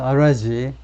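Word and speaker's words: Araghchi: 이란's foreign minister 아바스 아라지, 이란의 외무부 장관이 아바스 아라지인데 그냥 아라지라고 발음하네요.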